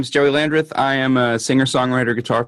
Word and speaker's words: Joey Landreth: Joey Landreth. Hey! Is it correct? Is it correct, the pronunciation?